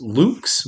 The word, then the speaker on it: Lux: it should be pronounced luke's but we're americans so we say lux and that's the purpose